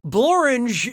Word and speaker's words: Blorange: Blorange is a real place, and it really rhymes with orange.